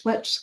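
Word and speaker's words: Schitt's: Shitz Creek. How do you say it wrong? Shitz Creek. It's Schlitch Creek.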